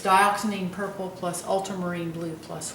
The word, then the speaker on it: dioxazine: wisteria, and it's spelled D-I-O-X-A-Z-I-N-E. And I don't know if I'm pronouncing that correctly, but that's how I pronounce it, is dioxazine purple.